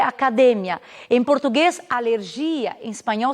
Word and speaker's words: academia: Então, por exemplo, quando eu falo em português academia, em espanhol essa palavra ela tem a mesma grafia, ela tem o mesmo valor de significado, valor semântico, mas ela diverge na sílaba tônica, que seria academia.